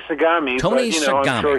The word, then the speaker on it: Sagami: You and your colleague Tony Sagami am I pronouncing Tony's name right? We usually say Sagami, Tony but Sagami.